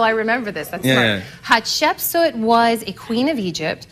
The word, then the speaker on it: Hatshepsut: Lost queen of Egypt, Hatshepsut. Can you say it? Hatshepsut? Yeah, that's good. Hatshepsut. Yeah, because most people can't pronounce it.